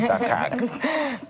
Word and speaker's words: Dharkag: I like the way you pronounce it, Dharkag. Sounded like dark age.